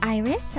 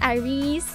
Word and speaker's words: IRyS: iris like your eyeball my name is as i've said iris i know a lot of people were very um confused about how it's pronounced because of the spelling probably it is not it is not irise it is not it is not ours it is just iris oh yes